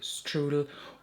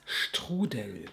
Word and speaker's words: Strudel: Blush number 4 that I'm going to show you is the shade Strudel, or in German it's Strudel, and it's insanely delicious.